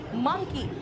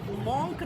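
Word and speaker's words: monk: मंकी, बेटा इसको मंकी नहीं कहते, इसको मंकी नहीं, इसको मंकी कहते हैं। इसको मॉन्क नहीं कहते, इसको मंक कहते हैं, है ना।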